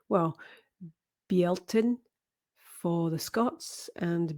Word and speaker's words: Bealtaine: So the next festival is anglicized to Beltane, but is actually pronounced, well, Bealtaine for the Scots and Bealtaine for the Irish.